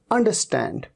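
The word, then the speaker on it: understand: इसे कई बार अंडरस्टैंड, अंडरस्टैंड, अंडरस्टैंड नहीं, अंडरस्टैंड, र को तो आप साइलेंट ही मान लीजिए।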